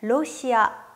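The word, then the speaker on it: ロシア: 라고 발음 했어요 다음으로 러시아는 흘러 발음이 없기 때문에 로시아 로시아 라고 발음하고 요 인도는 발음 그대로 인도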